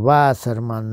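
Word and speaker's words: Вассерман: васерман он всегда подч что он васерман на первый слог ударения Ну немецкий такой у него порядок ударения так вот он сказал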